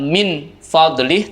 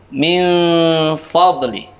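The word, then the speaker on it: مِنْ فَضْلِهِ: Cara membacanya, suara non sukunnya dibaca samar, diikuti dengan suara mendengung. Tidak min fadlih, tapi min fadlih.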